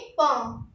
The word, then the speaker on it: pain: Bread को हम बोलते हैं पां।